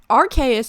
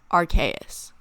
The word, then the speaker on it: Arceus: look at the word, the ARC part of the word comes from the English word archaic, which means old, and the AUS part comes from the word deus, which means God, in Latin.